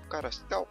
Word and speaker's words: Carasau: de bate Caral é carasau carasau é assim se se pronunci o nome dele e não vamos M